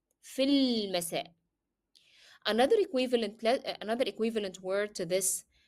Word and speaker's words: في المساء: Why do I moved from fa directly to lam? Sorry, from fi to lam? Because alif here cannot be pronounced. It is preceded by a vowel letter which is a long vowel ya. So you need to move from في المساء. في المساء. As if there is no alif.